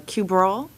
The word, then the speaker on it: Cabral: Is it a cube roll? Yes. Thank you.